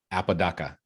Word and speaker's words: Apodaca: this podcast his name is apadaka DACA Apodaca Apodaca with a p yeah right so it